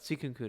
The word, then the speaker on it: Suikunkun: You can call me either of those, but Suikunkun is good too." Owen says, "I hope you have some music for Maria because I'm having trouble finding some." It rhymes with Louis, Dune, Moon.